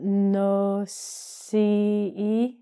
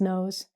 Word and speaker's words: nose: So first of all, again, pronunciation, it's not no-ce, it's nose. It's a homophone. And it sounds like this word in English.